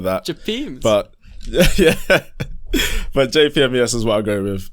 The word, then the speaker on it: JPMES: how siri would announce it but it's i spell it out jpmes i've had jp miss i've had jp mess japanese all of that japanese but yeah but jpms is what i'm going with um um yeah